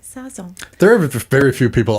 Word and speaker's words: Sazón: I'm going to say it right, Sazón.